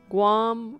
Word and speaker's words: Guam: as described by Yaki Guam rhymes with Spam did you call it